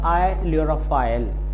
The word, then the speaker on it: ailurophile: इसका right pronunciation होगा आइल्यूरोफाइल।